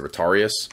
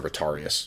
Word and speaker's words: Retiarius: as generalized in purpose as the Retarius, or Retiarius, I guess is the way to pronounce it.